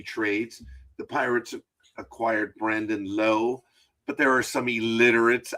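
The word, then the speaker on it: Lowe: The name is Low. And I know there's this player in Major League Baseball that says or pronounces Lowi. It's like, dude, I'm sorry that you're stupid. In America, it's low. It's the way it is.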